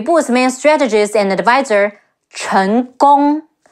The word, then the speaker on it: Chen Gong: main strategist and advisor, Chen Gong. Chi En, Chen, Ge Ong, Gong, Chen Gong.